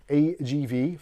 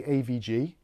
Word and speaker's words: AGV: So this is the ARESGAMING AGV 500, which I always want to say AVG because of the antivirus software, but I managed to say it right on video numerous times.